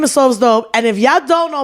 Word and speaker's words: SofsDope: it's SofsDope. You heard? SofsDope. Yeah. SofsDope. You heard? Spelled with a Pacific. Because people always like so dope or sofa dope. Like, imagine how everybody calling me sofa dope.